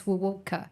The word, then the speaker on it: Wuwoka: It's just as is Wuwoka.